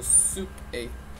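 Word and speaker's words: souper: Compared to English where it's breakfast, lunch, dinner, but here's breakfast, dinner, soupe. It's like soup, but with an er sound at the end, an a sound. So soup a, soup a.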